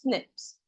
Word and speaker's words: SNPs: This is known as SNPS that is single nucleotide polymorphism which is pronounced as snips.